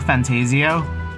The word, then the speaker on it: ReFantazio: some metaphor ref fantasio pretty sure that's how you say it metap forant Fantasia fantasio I think that was like a correct way that I've heard it um said like by the studio but for now without